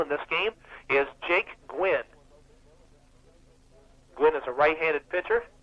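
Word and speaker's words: Guinn: here against the right-hander gwen jake gwen's name not spelled like tony gwynn now spelled g-u-i-n-n sort of like nancy gwynne the library in rockdale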